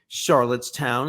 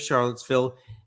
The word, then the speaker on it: Charlottesville: places with some regularity charlott town instead of Charlottesville miniapolis instead of Minneapolis